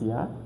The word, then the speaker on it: Jahr: Then we have J. J, we read it as letter Y. J, we read it as letter Y. For example, we have Ya, das Jahr, meaning the year. Das Jahr, Junge, or the Jung, meaning the boy.